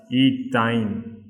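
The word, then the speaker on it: ethyne: So therefore it should be pronounced as ethine. You just compare and see, this is ethane, this is ethene and this is ethine.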